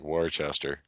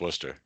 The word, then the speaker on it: Worcester: yeah i love it worcester is as the city that ignores most of the like a lot of the letters in its spelling for some reason yes it does absolutely it's spelled like warchester yeah that's pronounced worcester